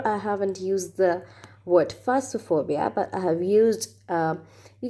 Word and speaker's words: phasmophobia: Phobia number 8 is phasmophobia. It's not phasmophobia. It's actually PH is pronounced as fa, F. It's phasmophobia.